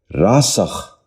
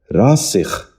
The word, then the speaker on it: راسخ: نشین کر لیجئے، ذاکر۔ نواں لفظ ہے راسخ۔ یہ غلط تلفظ ہے۔ درست تلفظ ہے راسخ۔ دوبارہ سنیے، راسخ۔ بچوں آپ بھی ذہن